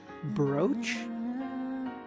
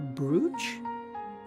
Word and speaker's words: Brugh: I said Brugh broach? Are you pronouncing it like broach or brooge? No. The name is giving me like German vibes. Brugh brooge. Brooge. Yeah, it is it is German.